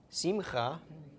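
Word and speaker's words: שמחה: Okay, so chirik makes the short I sound, the shva makes no sound, and then we've got the a of the comments. So first syllable sim, second syllable cha. Okay, so simcha.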